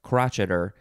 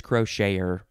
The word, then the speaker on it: crocheter: a noun of course that looks just like crotcheter but it's crocheter the crocheter crochet in